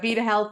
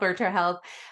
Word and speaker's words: Virta Health: So we got Virta Health, Virta Health. I just wanted to correct the pronunciation on that.